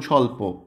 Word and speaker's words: স্বল্প: শব্দের শুরুতে বফলা বা মফলা যেটাই হোক না কেন, শব্দের শুরুতে সাইলেন্ট থাকবে। স্বদেশ, স্বপ্ন, দ্বিতীয়, দেখো বফলা। আর এখানে আর কি আছে, যেমন স্বল্প, স্বাগত, স্বাধীনতা, স্বজন, জ্বলছে, ধ্বংস, এটা তো আগেই বললাম।